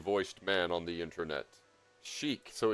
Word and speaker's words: chic: Chic not chic because ch in French sounds like sh. Chic is how you say it. Chic. Very chic. Thank you, interesting voiced man on the internet. Chic.